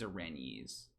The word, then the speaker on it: Erinyes: can know the truth how is it pronounced the furies how do you put rinnies irene's orenjes okay okay my wife says irene's and she's a classics major so we're gonna we're gonna trust her on that um yeah i'm still